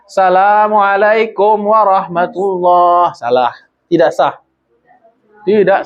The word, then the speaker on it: assalamualaikum: idealnya begitu idealnya begitu minimal dua harakat Nih assalamualaikum warahmatullah bagus tuh sudah sempurna tuh ya gak berama Gak lah pokoknya sempurna itu baik Terkadang ada orang meninggalkan alif lam jadi bacanya assalamualaikum warahmatullah salah tidak sah tidak sah Salamualaikum Salamualaikum